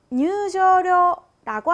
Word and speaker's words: 入場料: 입장료는 일본어로 入場料라고 하는데요. 이 단어를 발음할 때는 장음에 주의하셔야 합니다. 한자 각각 장음이 있는 단어라 길게 入場料라고 발음합니다.